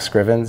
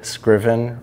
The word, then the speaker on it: Scriven: They can reach out to me on LinkedIn, Scriven, Scriven, rhymes with driven.